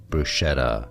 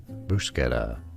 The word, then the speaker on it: bruschetta: Bruschetta. Now, in the US, it is said as bruschetta. Bruschetta.